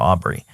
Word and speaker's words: Aubrey: always it's always like replacing the B with the D and pronouncing it Audrey instead of Aubrey um I love her